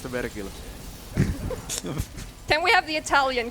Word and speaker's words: Vergil: It's actually pronounced Vergil.